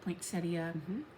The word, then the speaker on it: poinsettia: And poinsettia, that is how you say it, poinsettia Gentle Arts thread.